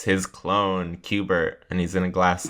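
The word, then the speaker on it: Cubert: fry it's his clone cuber and he's in a glass tube hubert j farnsworth it rhymes with hubert hubert yeah that's what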